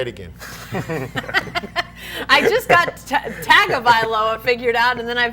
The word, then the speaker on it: Tagovailoa: There's a hidden N in there. It's Tonga? Tagovailoa. Hidden N. Say it again. I just got Tagovailoa figured out, and then I figured out that was wrong.